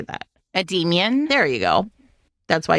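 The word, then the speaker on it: Endymion: i o n how do you say that ad Demian there you go that's why he's demon you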